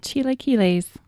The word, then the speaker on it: chilaquiles: I made chilaquiles. Excuse me? I think that's how you pronounce it.